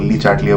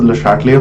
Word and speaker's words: Le Chatelier: उसको हम बोलते हैं, बहुत लोग बहुत तरीके से प्रोनाउंस करते हैं, बहुत लोग ली चाटलिया बोलते हैं, but the right pronunciation is Le Chatelier principle and we are trying to study the Le Chatelier principle through graphs.